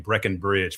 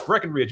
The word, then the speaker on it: Breckenridge: I CAN'T TELL YOU HOW MANY PEOPLE PRONOUNCE my last name Breckenridge. For some reason they think there's supposed to be a B in the middle of it, but no, it's Breckenridge.